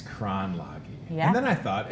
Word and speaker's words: Kronlage: So to my right, Kayla Benefil is here, and Stephanie Kronlage. I said it right, didn't I? You did, yeah. I've been practicing, Stephanie, ever since Nuria emailed me. I was like, it's Kronlage.